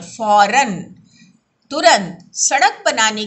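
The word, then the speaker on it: फ़ौरन: देखिए फौरन में नुक्ता लगा, इसका उच्चारण कैसे करते हैं, फौरन, तुरंत सड़क बनाने का काम शुरू कर दिया जाए।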